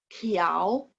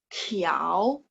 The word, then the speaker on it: 条: 共 23 shi 24 条 ingat t baca th 条 25 裤子 ka